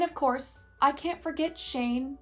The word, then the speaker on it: Shane: And of course, I can't forget Shane, who rhymes with rain.